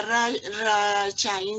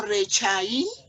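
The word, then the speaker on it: רשעים: Cuando va en la primera letra, esta se lee como E, ¿sí? Por eso leemos re, ¿vale? Pero, como te digo, hay varias reglas. Entonces se dice ahí Rechaín. Reshaim, sí señora. Entonces, Ahí no se leería Rachaín, sino Rechaín.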